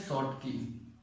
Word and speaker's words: Schottky: और दूसरे को बोलते हैं शॉर्टकी, स्पेलिंग थोड़ी सी SCHOTTKY, डिफेक्ट।